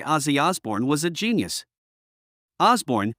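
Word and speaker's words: Osbourne: Osborne, he had said, not Orborn.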